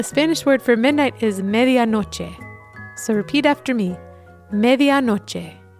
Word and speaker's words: medianoche: The Spanish word for midnight is medianoche.